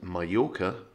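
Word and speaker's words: Mallorca: word for chicken is puyo not pollo and mayoka is majorca and not i think most people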